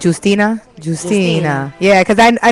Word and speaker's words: Justina: So like I know in in Spanish is like you don't say J but in Spanish it's juicina. Justina.